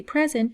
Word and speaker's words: present: an as a verb the emphasis is on the second syllable so present means like to show something so I presented my project to the class so present we say present not present and there are so